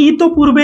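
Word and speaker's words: ইতঃপূর্বে: মধ্যে দেখেন ইতো পূর্বে এ বানানটা দেখেন বিসর্গের উচ্চারণ হবে না বিসর্গের উচ্চারণ হবে না ইতো পূর্বে ইতো বিসর্গ পূর্বে এরকম বলি না আমরা তো হ্যাঁ ইত পূর্বে ইত পূর্বে প দুইবার হবে বিসর্গ থাকলে এই যে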